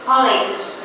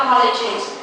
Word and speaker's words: colleagues: plural now of colleag so that is colleages colleagues not colleges okay I have do